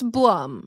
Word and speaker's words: Blum: Associated so does that mean everyone should start mispronouncing our names absolutely yeah it's Blum it's for sure Blum yeah Plum um but